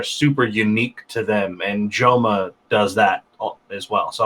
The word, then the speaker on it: JXMA: Oh, and there's also this fucking guy called Joma. It's spelled JXMA, and it's just really emo, sad kind of rap stuff.